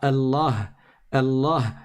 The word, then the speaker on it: Allah: On dit pas Allah, Allah sans prolonger, mais on doit dire Allah. Allah, on prolonge.